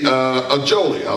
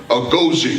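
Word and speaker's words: Agojie: You know, and I was really struck at the story about the Ajoli. I know I'm not saying it right. Agoji, that's it.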